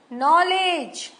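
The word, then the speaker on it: knowledge: नहीं बोला गया नाउ इन वर्ड में के साइलेंट है नो नाइट नॉलेज के तो नहीं बोला हमने के साउंड क क नॉलेज तो नहीं बोला हमने नॉलेज बोला तो के जो है यहां साइलेंट है और अगर आपने नॉलेज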